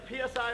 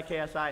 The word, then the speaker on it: KSI: He constantly says my name wrong. PSI, KFC, KGB, CSI, PSI, KFC, PSI, KSI. Yeah, Jake, you follow me on Twitter, and it clearly says my name on my Twitter.